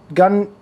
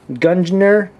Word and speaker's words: Gungnir: Today I'm going to be reviewing the brand new Series 5 Spartan Gungnir, how do you say this? Gungnir, whatever. It starts with the G, it's Spartan Gungnir.